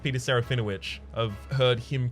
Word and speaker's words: Peter Serafinowicz: Peter surrender which and yes it is actually pronounced Peter Serafinowicz I've heard him correct other people Yudhisthira was